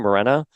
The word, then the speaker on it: Morena: So I'm really, really sorry to Morena, right? That's how you say her name, Morena.